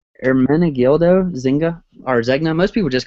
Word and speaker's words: Ermenegildo Zegna: So last thing I have here is, I'm gonna try to pronounce this. Maybe I won't butcher it too bad. My like Reikin does. it's Ermenegildo Zegna, or Zegna. Most people just call it Zegna, but it's super simple design.